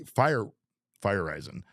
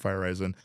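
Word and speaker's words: Feyereisen: And another guy, JP Fireson, uh he firezen, I knew I was going to say it wrong. It's JP Fireen.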